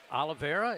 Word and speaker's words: Oliveira: Charles Oliveira, am I saying it right?